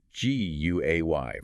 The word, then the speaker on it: Guay: If you'd like to leave feedback or have any questions, feel free to reach out to our producer, Julius Guay, that's Guay, pronounced Guay on LinkedIn.